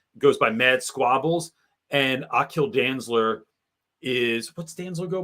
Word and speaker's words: Aquil: by mad squabbles and Akil dansler is what stanzo go by forget something not I'll kill Dantzler but his name is spelled aquil it looks like a